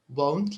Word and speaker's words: won't: and we agreed that the pronunciation should be won't like don't so you have to be careful whenever you want to use won't try not to make it sound like want or went you have to try